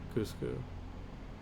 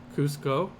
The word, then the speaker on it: Cusco: spot the city and this plane and attack cusu yep Cusco thank you honey Cusco is this nice and